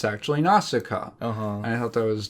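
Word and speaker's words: Nausicaä: And it's actually Naussica.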